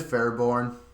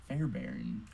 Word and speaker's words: Fairbairn: Is it Fairborn? Fairbairn. Okay, yeah, that's what I said.